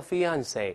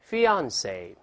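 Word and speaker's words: fiancé: 哎，这是法语词汇，是发音有点特殊。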